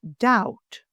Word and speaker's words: doubt: The word doubt, pronounced doubt, not doubt.